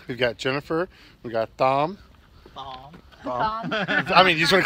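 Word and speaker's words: Thom: It's actually Tom. H with a silent, man. H is silent in this guy's name.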